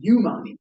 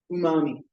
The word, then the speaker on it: umami: the person I guess read it as yumi which we both thought which is fine. It's a Japanese word totally reasonable pronunciation. So what does it mean? Umami.